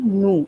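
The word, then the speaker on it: nous: through using the pronoun nu even i can play with no because n o u s is the spelling and s we don't pronounce so even i can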